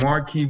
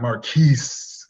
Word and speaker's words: Marquise: And number 18, Marquise Brown, home against Philadelphia. I would love to rank this guy a little higher, and I love to pronounce his name in French, Marquis, not Marquise.